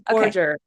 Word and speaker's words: Borger: Borgger is our guest. Did I pronounce that right? Dr. Yes, it's Borgger.